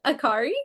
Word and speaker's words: Akhauri: His name is Vedant Akhauri. Did I say it right? Vedant Akhauri.